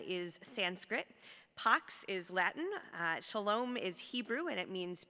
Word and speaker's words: shalom: that first one is sanskrit pox is latin shalom is hebrew and it means peace or wholeness